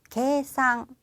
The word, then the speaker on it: けいさん: 그대로 계산 이라고 써있어요 발음도 비슷합니다 게 상 계 상 이라고 하는 계산이 있고요 자